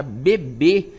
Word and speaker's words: bebê: Então, vejam que a palavra bebê, tem um acento circunflexo aí que dá a ideia de som fechado, Assim como lã, O lã, dá a ideia como se tivesse o N aí depois.